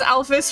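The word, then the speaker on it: Alphys: in front of uh Alfus. Another random question. Do you guys pronounce like what? I pronounce it alfus, but other people pronounce it alf. And I think that one's technically supposed to be correct, but how do you pronounce it?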